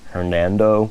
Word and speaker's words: Hernando: I learned at the very end of this process that Hernan Cortez pronounced and signed his own name Hernando or Fernando Cortez, but that historians started shortening it to Hernan about 100 years ago.